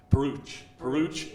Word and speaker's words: Peruch: Peruch, it rhymes with pooch.